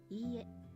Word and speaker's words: Ie: When dealing with repeated vowels such as e, you draw out the length of the sound. It's not quite the same as repeating the vowel twice.